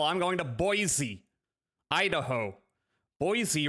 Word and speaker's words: Boise: Boise rhymes with Joy.